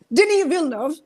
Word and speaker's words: Denis Villeneuve: like Shakib bhai bolchilen Farooq was also saying Denis Villeneuve এটা নামের pronunciation this is the correct one আমি আজকে